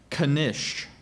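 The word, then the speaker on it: knish: i a r c h patriarch that's correct Kish what's the language of origin this word is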